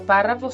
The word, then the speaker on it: párrafo: Ay, disculpen que no están los acentos, pero sí la palabra es párrafo, lleva acento en la A.